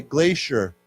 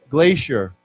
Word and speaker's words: glacier: we say this together this C is pronounced with a sh sound so let's say glacier glacier okay yeah so there's